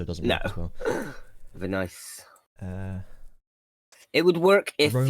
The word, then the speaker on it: Venice: she would have been V-Nice. But doesn't work as well because it doesn't. Actually, that's not how you pronounce the place, so it doesn't work as well. Venice.